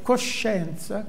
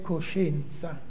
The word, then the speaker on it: coscienza: Vi ho messo la pronuncia di Firenze, è coscienza, che io non uso, naturalmente. Essendo di madre mantovana, di padre romagnolo, proprio coscienza non è nelle mie corde, e la mia pronuncia è simile a quella milanese, coscienza, no?